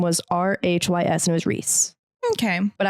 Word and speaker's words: Rhysand: And there's a character and his name is spelt Rhysand. Rhysand. It's Reese.